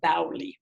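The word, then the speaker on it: baoli: to see the stepwell the bowly or the bow as they're pronounced in different uh different uh cities and I had to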